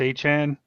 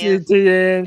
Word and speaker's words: Etienne: I think it's pronounced Achan now. It is. It's just so weird to me because I know I'm a Clemson fan. I've been saying Travis Etienne. It's never been Etienne, apparently.